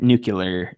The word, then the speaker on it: nuclear: Max keeps saying nuclear, and it's bothering me. Nuclear. Am I saying it wrong? It's nuclear. Nuclear. And I'm saying nuclear. Nuclear. There's Yeah. not an extra U in there.